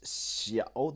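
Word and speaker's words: 小: So what we're about to learn now is xiao. This is a new character, and it is written like this. So it's pronounced like this, I should say. It comes with a third tone.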